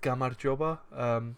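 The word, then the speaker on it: გამარჯობა: It's pronounced Gamarjoba.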